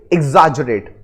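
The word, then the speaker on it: exaggerate: एजरेट देखो पहले तो आप समझो कि इसको एक्स प्रोनाउंस नहीं करना है ठीक है इसको प्रोनाउंस करते इग मैं मानता हूं लिखा हुआ है ये एक्स लेकिन इसको प्रोनाउंस करेंगे इग एजरेट है ना एजरेट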